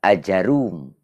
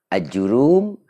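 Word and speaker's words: آجُرُّوم: Menurut pendapat lain dibaca juga Ajarum. Jadi ada yang membacanya Ajurum, ada juga yang bacanya Ajarum.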